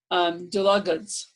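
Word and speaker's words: Dlugacz: Dulugacz. Okay, like so it's spelled D-L-U-G-A-C-Z, just for those of you who are listening.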